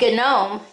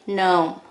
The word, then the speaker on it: gnome: this is a gnome and there are your silent letters you don't say gnome you say no right next to it